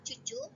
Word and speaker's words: cucu: Cara membacanya sebenarnya sama, cucu, cuma dalam penulisan terjadi perbedaan.